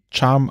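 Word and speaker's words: XARM: mit einer Art Lightversion das soll dann Scharm genannt werden also xar RM aber es wird Charm ausgesprochen und der früheste Startzeitpunkt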